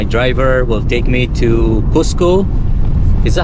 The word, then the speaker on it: Cusco: Spanish cus husco okay we will say it in Spanish then husco H and